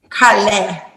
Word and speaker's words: Karlae: We're gonna make sure we say yes, like a car in a lane. a little bit saucy, like Karlae. Karlae.